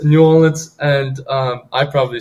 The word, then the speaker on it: New Orleans: to New Orleans did I say that right New Orleans it's New Orleans and um I probably say it wrong um